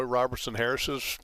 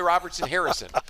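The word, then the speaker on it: Robertson-Harris: trying to pronounce Roy Robertson Harris's name well I almost called Harrison which right Roy Roberts and Harrison it's just a natural extension Robertson Harris I have to remind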